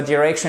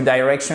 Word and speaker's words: direction: faire attention parce que ça soit direction ou direction, ça ne change rien. Parfois on se dit, on essaie de compliquer les choses, on se dit ok, quelle prononciation je dois utiliser. Là pour le coup, les deux sont justes. Et il me semble que dans le Cambridge Dictionary, dans tous les dictionnaires, vous avez bien les deux prononciations.